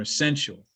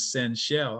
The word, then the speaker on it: Senchelle: name the entire semester i was calling her essential and so she got up to do her class presentation she said hello my name is senchelle i was like i've